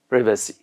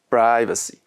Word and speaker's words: privacy: So in British, we can say privacy. And in American, we say it privacy. How do you say it in American? In American, privacy. And in British, privacy.